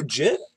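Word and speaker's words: Jitte: the that you know you're pronouncing it incorrectly you just keep doing no jit I'm shortening it to jit I'm not like I'm not forgetting the te well it should be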